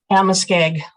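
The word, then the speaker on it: Amoskeag: Amaskeg.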